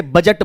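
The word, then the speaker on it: budget: इसे बजट बोलते हैं डी के बाद क्या लिखा हुआ है जी लिखा हुआ है बट डी का उच्चारण प्रोनंसिएशन आप नहीं करते हैं है ना तो ये आपका बजट होता है जस्ट लाइक दैट जी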